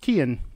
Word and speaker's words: Cian: You know, I looked up pronunciations online so that I could, it said that Cian was pronounced Kian.